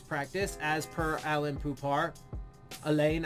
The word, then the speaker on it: Alain: Elaine, I think it's Elaine Poupart. Anyway, I can't, no, I think it's Alan. I think it's pronounced Alan. Anyway, highlights, lowlights, and observations for the sixth.